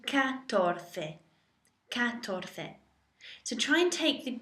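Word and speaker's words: catorce: so go to tres uno dos tres tres and say so you've got for 14 you can't really take cuatro to say cuatroce you can shorten it to katorte so try and take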